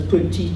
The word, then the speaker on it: petit: the phenomenon in which certain consonants which are written at the ends of words are pronounced in some contexts, like this one, pronounced as petit ami, but not pronounced in other ones, like petit copain, it's not pronounced.